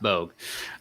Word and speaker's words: Boge: You make sure it's spelled Boge, but it is pronounced Bogue.